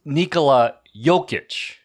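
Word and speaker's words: Nikola Jokić: bro no it's not it's Nikola jokic you want to try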